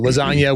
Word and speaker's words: lasagna: So lasagna with the silent G and all that jazz.